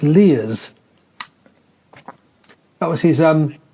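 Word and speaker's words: Leir: Roger, is it pronounced Lears? That was his... Lears, Dr. Lears, yes, indeed.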